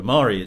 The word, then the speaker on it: Ahmari: quite obscure American journalists, David French and Sohrab Ahmari. Am I pronouncing Ahmari's name right?